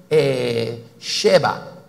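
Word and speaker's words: שבע: De hecho, la palabra 7, ahora, 7 se dice Sheba. Se escribe así. En fonético sería así. Sheba.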